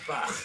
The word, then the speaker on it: Bach: And that's the way they pronounce it. It's like something Bach. starting your throat. Bach. Yeah, Bach.